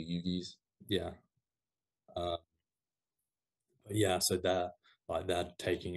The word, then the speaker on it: Uyghurs: Sorry, I think it's pronounced like the Uyghurs or the Yugis.